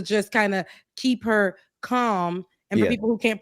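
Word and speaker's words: Kamala: kind of keep her calm and for people who can't pronounce um you know Comm Harris's name calm calm not Cala calm not koala you notice Rebecca on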